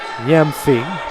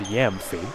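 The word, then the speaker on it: Gyamfi: g y mfi and most of the time that g is silent so it's Yami not that I'm an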